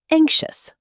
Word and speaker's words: anxious: Next, anxious. Anxious. Just 2 syllables, even though it looks longer on paper.